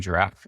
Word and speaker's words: Jirav: and co-founder of giraffe it's a complete misspelling of the word giraffe you just kind of list the B and the F together but it's spelled j i r a we're an all in